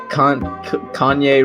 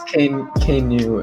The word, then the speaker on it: Keanu: Yeah, Kanye Reeves. His name is Keanu.